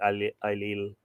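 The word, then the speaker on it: Ailell: There is wonder on me, said Ailil. It's spelt, I think I said this last week or the week before, it's spelt Ailil, A-I-L-E-L-L, but I'm saying Ailil.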